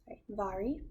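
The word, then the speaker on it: Mhairi: is pronounced vare vari vari it is scottish and i really enjoy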